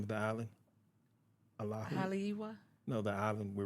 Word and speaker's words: Oahu: Oahu? Haleiwa? No, the island we were on. Oahu, sorry. Oahu.